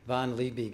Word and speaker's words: Liebig: say potato so uh von lee big is the way i pronounce it because i live in the woods and no one's there to correct me really good yeah and